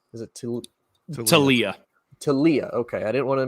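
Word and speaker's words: Taulia: Talia.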